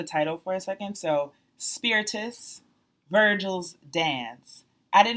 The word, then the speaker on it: Spiritus: But Spiritus, and I have been mispronouncing it. I was like Spiritus because I thought it sounded fancier. But it's Latin for breath, and Virgil's dance is